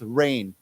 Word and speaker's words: reign: we use the word rain and it has as you notice it has a g okay but the pronunciation is the same okay it's rain R like just like